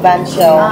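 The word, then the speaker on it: bánh xèo: Can I order banh xeo one? What's the filling? Do you have one banh xeo? Yeah. One. Yeah, chicken. What's the side? Chicken. What's the filling of banh xeo?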